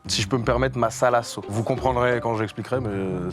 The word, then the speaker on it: mazalazo: Ça se dit masalasso parce qu'au Pérou, les Z se prononcent très S.